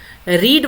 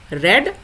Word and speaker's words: read: इसको हम पढ़ते हैं रीड, रेड एंड रेड। इसको रेड पढ़ेंगे लेकिन लिखेंगे READ ही।